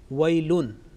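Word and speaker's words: ويلٌ: The first word in the verse number 2, wailun. Wailun ends with tanween, and tanween is basically producing a nasal sound, or noon sakin producing nasal sound.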